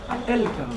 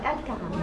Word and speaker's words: Al Karam: Qu'est-ce que ça veut dire Al-Karam? La générosité. Ah, générosité. Et c'est Haram ou Karam? Karam. Karam. C'est Ah, c'est le cas, ça. Karam. El-Karam. Oui, Al-Karam.